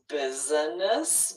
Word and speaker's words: business: Business, which really is three syllables, business. But we rarely say that. We really usually pronounce this two syllables.